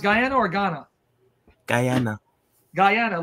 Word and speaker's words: Guyana: Guyana or Ghana Guyana Guyana like Diana Dirty Diana no are